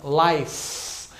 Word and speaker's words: life: Letra E no final é muda, né? Então, life. Para mim colocar no plural, se eu for colocar life, ó, como eu não pronuncio o S, se eu fosse colocar o S, ó, lives, naturalmente o som acaba indo para um V.